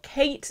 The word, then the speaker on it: Cait: the hashtag creative for Kate. So that's creative, the number 4, and Kate is spelled C-A-I-T, so not the traditional way, short for Caitlin, you know.